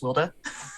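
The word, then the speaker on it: Wilde: yeah it's old spelling of wild but it's pronounced wilda all right i've been trying to there okay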